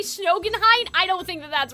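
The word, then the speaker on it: Schoenheit: Every time I say Snogenheight, I don't think that that's right. You guys are saying Sheen Height. Sheen like diamond. That may make sense.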